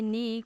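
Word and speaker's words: knee: It landed on माई नी, वो मेरे घुटने पर बैठ गई। अब यहाँ पर अगेन के हमारा है साइलेंट, क्योंकि एन से पहले आया है।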